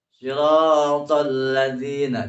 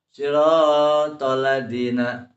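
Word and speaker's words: صِرَاطَ الَّذِينَ: Siratal ladzina, jangan membacanya siratal ladzina. Tekankan ada tasydid.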